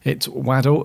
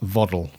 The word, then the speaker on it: Waddle: He said it's Waddle, as in the football player, not Voddle.